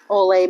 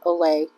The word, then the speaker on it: au lait: Olay means milk. Olay. Olay. L-A-I-T is how you spell it.